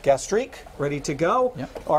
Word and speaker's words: gastrique: Blood orange, and how do you pronounce that? Gastrique. Gastrique, ready to go.